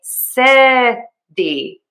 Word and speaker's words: city: One other thing to keep in mind with this is I am using the flap t and that I like to teach as a very fast d sound and so I say city city city.